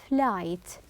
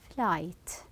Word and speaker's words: flight: sound as well as flight the GH here is silent flight from the Y to